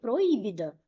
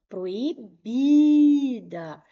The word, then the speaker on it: proibida: Se eu colocar acento aqui, como que eu vou ler? Proíbida. É assim que nós falamos? Não. Proibida. A sílaba tônica é a penúltima.